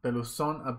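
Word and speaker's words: Pelusón: Peluzón, por el acento en la O.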